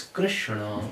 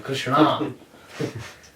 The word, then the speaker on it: Krishna: But the actual pronunciation is Krishna.